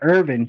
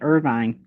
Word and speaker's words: Irvine: it's so funny that they call it irvine in california and here they call it irvin if you were here and you called it irvine kentucky it would probably